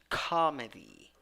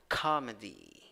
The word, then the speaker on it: comedy: 7, 6 letters, 6 sounds, 3 syllables. The first syllable is the one that is stressed. You have a in the first syllable. You have schwa, in the second syllable, and you have e, a letter E wearing a hat. E. Pronunciation comedy, comedy.